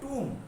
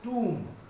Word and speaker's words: tomb: Okay, so also tomb, don't read tom, it is not tom, it's tomb. Pronunciation is double O.